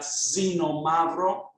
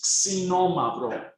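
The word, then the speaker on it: Ξινόμαυρο: of an attempt um for the crowds to pronounce that it's not a lot of non-greek people call that Xeno mavro um but it is Sonoma bro k s imagine k s c Norma bro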